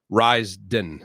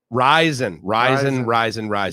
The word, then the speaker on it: Ryzen: Ryzen, I believe. Smoothies for the BS. It's I believe I pronounced it RA, like Raise, but it's not. It's Rise. Rise, but it's spelled with a Y.